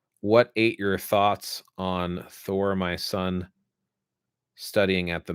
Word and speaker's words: Thor: thor so if you take it from the old norse it's thor it's got a rolling r you have the symbol